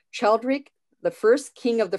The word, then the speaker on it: Childeric: Jonathan is a 53rd generation descendant of, I hope I'm pronouncing this correct, Childeric, the first king of the Franks, who ruled from 458 to 481.